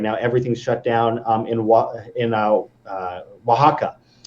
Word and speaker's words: Oaxaca: In Oaxaca, it's weird. It's hard to pronounce because it's spelled like exo or whatever.